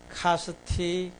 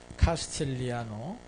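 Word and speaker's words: Castigliano: 카스티글리아노 이렇게 하게 되면 써 있는 대로 간 거죠. 이거는 카스틸리아노입니다. 이게 G가 발음이 안 나요. 카스틸리아노.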